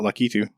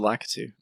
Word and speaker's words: Lakitu: ] lives yeah is it how do you pronounce it er I've always called it lucky few I believe said lakitu tomato tomahto actually the only way to settle